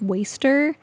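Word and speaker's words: WSTR: is lost to me this says wsdr but it's pronounced waster I don't remember the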